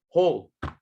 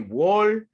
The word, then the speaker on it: whole: So guys, this word, it's pronounced like this. Whole. Like that. Don't say wall, wall, whole. No. Whole. Whole.